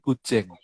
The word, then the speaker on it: guzheng: alat musik gujeng. Iya, Kuceng lafalnya apa ini?